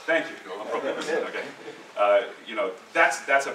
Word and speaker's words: Lampropoulos: These two guys know him better, and maybe could pronounce his last name for you. Okay, good, you all know him. Lampropoulos. Thank you, Lampropoulos.